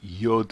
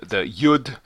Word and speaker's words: yod: The letter would be yod.